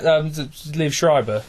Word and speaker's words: Liev Schreiber: Oh, yeah, Liev Schreiber.